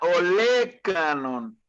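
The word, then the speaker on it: olécranon: Se pronuncia olecranon.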